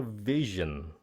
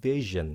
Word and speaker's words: vision: So chữ này là phát âm là vision nha. Âm Z, vision. Okay. Âm S cũng nữa, vision cũng nữa, vision.